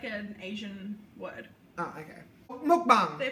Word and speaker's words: mukbang: Mukbang. They pronounce it as mukbang.